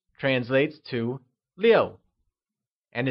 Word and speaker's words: 六: 6 translates to 六, and is pronounced with a falling tone, like 六.